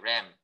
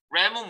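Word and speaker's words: rem: 그 RM, RM 말고 네 이걸 램이라고 읽으시면 돼요. 램. 램은 뭐냐면 M 단위인데 루트가 뭐지?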